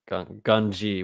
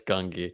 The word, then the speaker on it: Gungi: Gunji, will Gunji survive? does Gun wait It's Gungi.